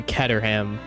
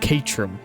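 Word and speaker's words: Caterham: or Katerham when I was a kid cuz it was in Test Drive Unlimited 2 and then I found out it's pronounced Katrum cuz it's British.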